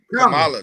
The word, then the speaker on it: Kamala: Kamala. That's how you say it? Hey. Repeat after me. Comma. Oh, yeah, Kamala. La. There you go. I got Kamala. it now. Comma. La. It's You Kamala.